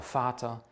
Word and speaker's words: Vater: kommt das weh was wie wird im deutschen normalerweise wie ein f ausgesprochen das ist also kein weh sondern ist ein von der aussprache her der vogel die vase der vater der volkswagen habe ich